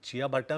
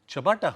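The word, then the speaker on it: ciabatta: ऐसे आप प्रोनाउंस करोगे? अरे आई हैव ओनली बाजा जवार नाचनी रोटी, तो ये चिया बट्टा मेरे लिए कुछ बहुत ही एग्जॉटिक होगा.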